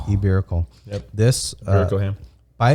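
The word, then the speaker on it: Ibérico: Yes, the Iberico ham.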